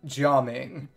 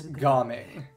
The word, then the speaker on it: Gaming: literally be being named gaming but the Mandarin Reading of the characters in his name is more like jaming but the cantones pronunciation is gaming so they use that